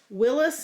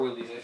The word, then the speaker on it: Willys: So is this Willis? Is that how they pronounce it? Okay, a Willis Army Jeep. Or Willys. I've heard it both ways.